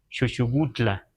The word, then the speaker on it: Xocotla: g Ajá por ejemplo unos dicen xocotla allá en Morelos pero ahí mismo los pobladores dicen chutla eso también debemos debemos